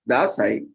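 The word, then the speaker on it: Dashain: festivals in Nepal spans over 15 days locally pronounced as dasai the festival is commonly known as Vijay Dashi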